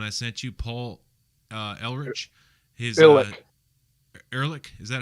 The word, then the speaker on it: Ehrlich: Ehrlich, is that how you pronounce it?